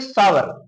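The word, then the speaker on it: sour: क्या होता है खट्टा, सौर नहीं पढ़ेंगे सावर, सावर मीन्स क्या होता है खट्टा।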